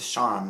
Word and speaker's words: Charme: This is the French word for glamour. It's to charme, not. So, spelled like charm.